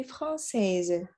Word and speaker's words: française: Jika diucapkan menjadi je suis français. Kalau untuk wanita je suis française. Ada pantulan Z-nya ya di akhir.